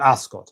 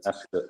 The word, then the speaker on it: Ascot: Ascot. Yeah. Yeah. Ascot as in soot.